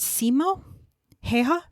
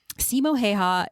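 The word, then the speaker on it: Simo Häyhä: ghost and I cannot I think his his name is pronounced Simo heha I think that's how it was pronounced but again I cannot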